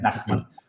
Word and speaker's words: Nachman: Doctor Nachman, ahí estábamos compartiendo su Instagram para cualquier cosa, cualquier consulta, fabio.nachman, pero se pronuncia Nachman.